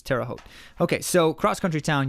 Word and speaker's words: Terre Haute: country town usa and i always have to look again because i never want to say it wrong but it's terre haute okay so cross country